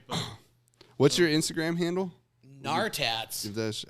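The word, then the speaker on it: Gnartats: Nartats. How do you spell that? GNAR. GNAR. EJ. Good thing you spelled that. I would have been KNNAR. It's like gnome, the G silent.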